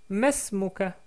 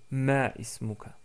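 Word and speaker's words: ما اسمك: En tout cas, vous pouvez prononcer Masmuka tout court au lieu de Ma ismuka.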